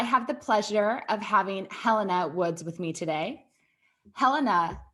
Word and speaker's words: Helena: i didn't ask if you prefer your name pronounced helena or helena helena glad i double checked cool let's start that